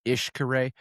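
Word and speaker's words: Xcaret: We went to like an ecological, almost like a theme park called Ishkare. It looks like Xkare, but it's pronounced Ishkare.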